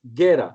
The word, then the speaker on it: Guera: So my name is Guera, straight, no accent, Guera.